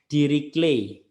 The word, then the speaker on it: Dirichlet: f Ini fungsinya dirichlet ini bacanya bukan diriku lebih tapi bajunya diri clay hatinya diri clay fungsi tak kontinu diri